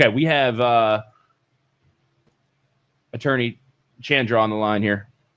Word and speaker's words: Chandra: It's like rhymes with abode and the last name Chandra rhymes with tundra. So, Chandra Chundra.